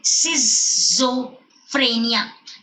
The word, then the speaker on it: schizophrenia: A, schizophrenia, pronounced properly, schizophrenia, schizophrenia.